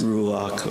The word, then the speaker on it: Ruach: about the word spirit but pronounce it rule lock or Numa can we all say